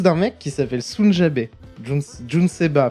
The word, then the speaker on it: Nujabes: Jun Seba. Putain, je le prononce toujours mal. Jun Seba, ouais. Ouais, c'est ça. Jun Seba. Je le prononce toujours mal parce que Nujabes c'est Jun Seba.